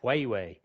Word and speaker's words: Huawei: And Huawei is how they pronounce it, Lawrence. It's Huawei.